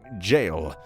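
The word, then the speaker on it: Gaol: Meet with Goodweather at our branch near Claymore Jail. Yes, you see, I know that's pronounced like jail.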